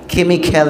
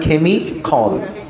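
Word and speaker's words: chemical: কেমিক্যাল না, উচ্চারণটা কেমিখল।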